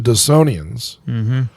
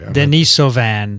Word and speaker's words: Denisovan: a third group the dassonians which we also interbred with can i correct you oh you probably isn't pronounced that way right denisovians i'm sorry denisovan denisovan denise evans okay so